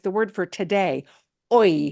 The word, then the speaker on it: hoy: anywhere in the word, the letter H does not get pronounced. It is truly silent.